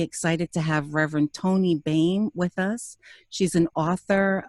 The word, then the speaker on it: Boehm: because it's not like it sounds. It is Boehm, Boehm, and Toni with an I.